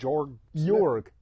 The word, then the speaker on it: Jorg: from your jorg Brown his name is spelled jorg but it's pronounced yorg yorg Brown why do